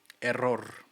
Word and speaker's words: error: do you say error it sounds like so much issue in spanish error with the rolling r you never get used